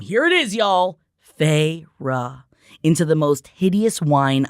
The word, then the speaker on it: Feyre: She drew out the two syllables of my name. Here it is, y'all. Feyre.